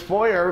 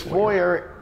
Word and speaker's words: foyer: in the house this foyer is a true foyer it's like an art gallery sorry just a quick side step do americans say foyer to me it's a foyer anyway irrelevant this player